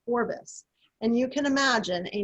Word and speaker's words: Forbes: In Scotland at the time, it is thought they pronounced the name Forbes as Forbus, and you can imagine